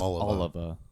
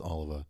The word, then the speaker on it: Oliva: Yeah, for people trying to correct us, it's Oliver. It's It's spelled the same way as Tony Oliva, but it's pronounced Oliver.